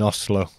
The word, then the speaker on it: Oslo: or like in in Oslo is it is how he you don't say Oslo when you're Norwegian it's Oslo it's neat it's like a very soft pronunciation from an English point of view yeah because obviously Norway